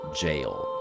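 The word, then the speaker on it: Gaol: Hypogon jail. It is pronounced jail.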